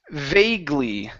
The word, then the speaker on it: vaguely: This word here is pronounced vaguely. Instead of fag, give me a V sound.